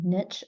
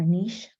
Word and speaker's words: niche: And a lot of people are really hesitant to niche or niche. Seems like there's 2 ways to pronounce that, niching or niching. I just say niche, use whatever connects with you.